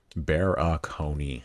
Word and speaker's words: Barakony: pronounce your last name bear ah cone e four syllables phonetic bear oconee all right cool give